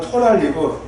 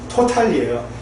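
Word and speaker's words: totally: 그래서 제가 좋아하는 영어 표현 중에 미국식 발음은 토랄리고 영국식 발음은 토탈리예요.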